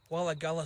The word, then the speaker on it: Wirragulla: We're just here at Wirragulla station, well, that's how you pronounce it, located on the Dungog branch of the Hunter line.